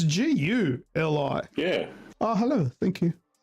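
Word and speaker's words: GuliKit: I watched a few reviews online. Everyone calls it the ghillie kit. Yeah, that's not how it's spelled. It's Guli.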